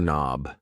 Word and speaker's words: knob: A door knob. Yes. The K in knob is silent.